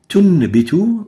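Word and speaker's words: تنبت: So in here, tunbitu, we replace the noon with a meme.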